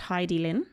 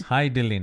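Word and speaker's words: Hidilyn: it for a start i think her name is actually pronounced heidi lin oh hi dylan i believe so hi that makes sense hi dylan because that sounds more familiar that that sounds a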